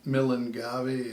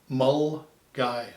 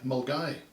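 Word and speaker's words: Milngavie: probably come up with millen gabby or some variant thereof it's actually said as mull guy mulgai now you'd never ever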